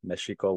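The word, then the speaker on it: Mēxihco: of Mexico for sure meshiko with a Nawa pronunciation this event right it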